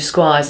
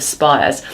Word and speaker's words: Spires: I called you Squires instead of Spires.